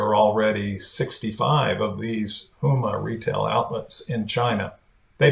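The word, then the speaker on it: Hema: introduced a new retail comp uh concept it's pronounced huma and you can find a link to it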